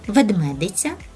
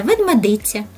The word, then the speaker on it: ведмедиця: мама самка вона Хто ведмедиця цікаво знати що це слово має подвійне наголос ведмедиця та ведмедиця дитинча воно Ведмежа а